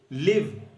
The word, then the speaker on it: live: लिव कहेंगे, लाइव नहीं कहेंगे।